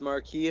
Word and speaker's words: Marquis: If it doesn't have the E on the end, it's Marquis. If it has the E on the end, it's Marquise. Right.